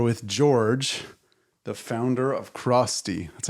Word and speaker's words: Crosty: today we are with George the founder of Krusty that's how you say it right yep um